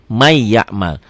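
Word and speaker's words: مَنْ يَعْمَلْ: iya Ma iya Mal ya tulisan dan bacaan beda ditulisnya Man ya'mal dibaca jadi May jadi double double Y ya n-nya hilang Ma iya Mat Yauma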